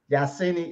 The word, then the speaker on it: Yahsinni: And Minister, I don't mind if you get my name wrong, as long as you get the first part right. Yeah. Okay? The other part is sin. The sin as in the moon sin. Yahsinni is in the house.